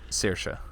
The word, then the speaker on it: Saoirse: I never know how to pronounce that name. Saoirse.